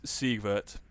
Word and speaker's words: Siegwart: So essentially, what so his name is Siegwart.